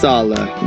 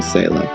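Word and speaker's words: Saleh: it's the well of wisdom salah yes it's pronounced salah ewing says so breaking you and i'm still used to saying sailor but anyways stala is someone i wasn't really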